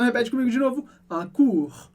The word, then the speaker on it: cours: Un cours, um curso. E no final dessa palavra a gente tem o som do R do francês, que a gente pronuncia.